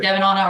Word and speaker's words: Devonna: Yeah, You can pronounce it Devanana or there's a Devonna. syllable in there that's not being stated. My brother's name is Micah Devin. And so my mom decided it would be cheeky to go with Devin, but that's just a mouthful. So we just always say Devonna. Yeah, that's 4 syllables.